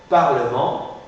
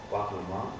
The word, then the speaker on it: Parlement: le mieux par exemple Parlement Parlement vendredi vendredi j'articule le E de Parlement le E de vendredi justement parce que va précéder de deux consonnes ré Parlement de Pendred